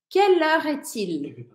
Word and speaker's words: Quelle heure est-il: Ao invés de você ter que falar cada palavrinha separada, é que você comece a conseguir pronunciar essas coisas meio juntas. Quelle heure, por exemplo, eu não falo quelle heure est-il? Eu falo meio que tudo junto e isso vai ficando quelle heure est-il?